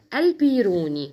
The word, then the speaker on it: البيروني: بالنا نقول لصحابنا ان كلمه البيروني مكتوبه في كتب تينيا البيروني يعني فتح الباء وساكن الياء تمام وعشان مافيش قاعده ثابته في الاسامي فاحنا بننطقها عادي يلا عالم الفلك البيروني عالم الفلك البيروني ده